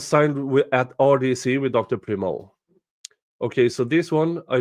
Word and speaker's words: Primo: Primo, is that how you say it? Yes. That's spelled Primo, yes.